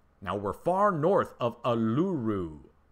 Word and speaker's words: Uluru: Now, we're far north of Uluru. Everybody always corrects me on how to say it. Ulura. Ayers freaking rock. I can't say it right.